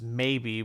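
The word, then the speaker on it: Maeby: freaking like the daughter whose name is maybe with an a and an e cause it's spelled m-a-e-b-y and her whole thing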